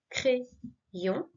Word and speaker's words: crayon: Le A accompagné de Y, comme dans crayon, on se rappelle, deux lettres, deux sons, crayon, I, d'accord?